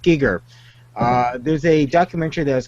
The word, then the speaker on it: Giger: it's a pretty an HR Giger not Geiger it's pronounced Giger uh there's a documentary